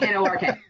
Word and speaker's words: Newark: Newark? Yeah. How would you say how would you pronounce that? Newark. Newark. Say it again? Newark. Sorry? Yeah. Newark. We say it Nork.